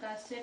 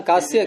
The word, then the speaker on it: कास: 35 से ऊपर से लिया ना, कास्य प्रत्यात आम और मंत्रिलिटी। आम की अनुवृत्ति कास्य नहीं है, कास। आपने उच्चारण कास्य किया अभी। कास प्रत्ययात, कास धातु है, एक चकाश्री दीप्तो।